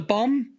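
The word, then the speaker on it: Bombe: like an electric one it's bomb with an e on the end though silent E yeah maybe it was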